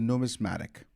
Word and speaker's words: numismatic: Numismatic.